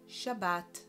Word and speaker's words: Shabbat: Shin, we add an aqua vowel, we create the syllable Sha. Then Bet with a vowel aqua, Ba. And then Tav, Shabbat.